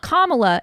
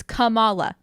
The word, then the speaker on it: Kamala: Miss Marvel's name Kamala so it's not Kamala it's Kamala kamalakon thank you we're